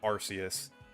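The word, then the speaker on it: Arceus: But let's move on to Legends Archus. This is another really good one. And yes, I pronounce it Archus. I just think like I just think it sounds better than Arus.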